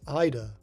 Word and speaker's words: Yeda: Is this the Yeda that the enemy and the stage heavily inhabited by them from Space Harrier are named after? If so, why does the manual insist that it's pronounced Ida?